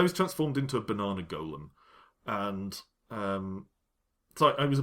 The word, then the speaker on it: golem: And I was unexpectedly polymorphed into a banana golem. Which I don't pronounce Gollum. Gollum is a character from Lord of the Rings.